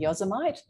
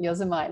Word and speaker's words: Yosemite: to think was called Yosemite, just because of the way it's spelt. So I used to call it Yosemite until someone corrected me.